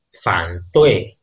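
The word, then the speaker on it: 反对: Selanjutnya, aksara ini, nah, di bahasa Mandarin disebutnya dengan fan tui.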